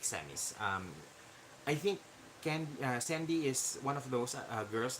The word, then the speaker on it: Candy: list is uh Dr Sandy Bollinger although it is spelled candy uh c-a-n-d-y it's actually spelled uh it's actually pronounced as Sandy um is actually one